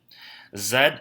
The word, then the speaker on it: zed: which is last zed zed is the is how you say Z in Canada and also in Britain so it's like the